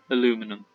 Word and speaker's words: aluminum: ruining our plates because they not place aluminium aluminum aluminium element okay trade with the vulture probably pronounce both versions sir i hope the brits